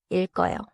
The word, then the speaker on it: 읽어요: 읽어요에서는 리을 소리가 앞 음절에 남고 기역 소리가 어로 이어져요. So 읽어요 sounds like 읽어요.